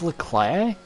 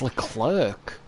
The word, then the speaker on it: Leclerc: well it's a worthy pronounced leclaire but it isn't is it we call him leclaire it's not it's le clerc it's le chair it's